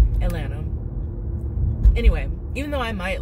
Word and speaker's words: Atlanta: no one says it no one pronounces like all the t's and stuff in Atlanta Atlanta anyway even though I